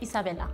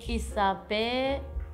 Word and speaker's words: Isabela: In Spain, we say Isabela. Predicted both France and Spain. Do you guys spell it different as well? Like you can take out the A and put an O, you can take off the last E. We spell it Isabela.